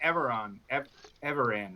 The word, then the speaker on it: Everan: I think Landorian and Everan, right? Caravan. Rhymes with caravan.